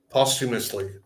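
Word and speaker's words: posthumously: Postumously.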